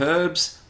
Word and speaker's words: herb: need to cover that I pronounce the word herb with the H I think that's a British theme that that's Australians use I've noticed her Americans it's like a silent H anyway humans have used